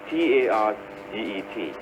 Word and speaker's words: target: Where is the stress? Ta. The first part, target.